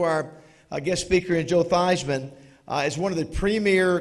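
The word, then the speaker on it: Theismann: all known for decades that Theisman rhymes with Heisman will heal rhymes with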